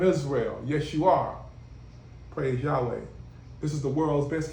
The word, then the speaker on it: Yahweh: Yahweh's name is Yahweh, not Yah. That's a prefix. You got different variations, Yehovah or whatever, but his true name is Yud-Heh-Wav-Heh Yahweh. Pronounced Yahweh in English, Tetragrammaton, Yud-Heh-Wav-Heh.